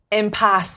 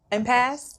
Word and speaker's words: impasse: Don't tell me impasse. Did I say it right? Impasse?